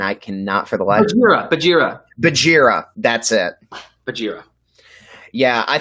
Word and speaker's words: Bagheera: Bagheera. Yeah. Okay, we said it wrong. Bagheera. I said Bagheera.